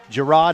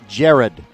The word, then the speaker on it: Jared: In fact, they even have a player who is doing backflips, Gerard Howard. Actually, I think Coach Williams told me the young man's name is pronounced Jared.